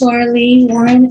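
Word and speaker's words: Laralee Warren: Could you state your name and spell it for the record? Okay, my name is Lorelei Warren.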